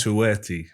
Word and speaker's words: Touati: Uh, how do you pronounce that? the last name. Toueti. Touati.